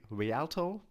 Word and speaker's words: Rialto: This will be a larger, here, says right here, larger market for Rialto. I believe that is how you pronounce the company name.